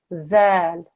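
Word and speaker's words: ذال: This dhal is pronunciation is a the. Put the tip of your tongue between the front two teeth. Yeah, dhal.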